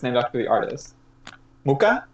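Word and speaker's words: Mucha: Muka, right? Muka, yeah. Hard C. Yeah, silent H, hard C.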